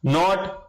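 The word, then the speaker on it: knot: अगला प्रश्न, नॉट कैनॉट, इसको आप नोट कहेंगे कि इसमें साइलेंट रहता है, किसका मात्रक है?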